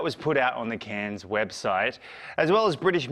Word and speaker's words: Cannes: put out on the can's website as well as British media describing the appointment as the return of a director beloved by Kans or cans or Khan it's a silent s Walter While French critics